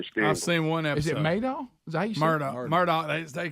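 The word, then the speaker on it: Murdaugh: Motors the southern states I've seen one murder Murdock they pronounce it Murdock but it looks like Murdoch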